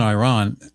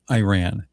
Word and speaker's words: Iran: Um so things in Iran well you see I have a friend who's who's from there and he has corrected me many times that it is not Iran it is Iran is the correct pronunciation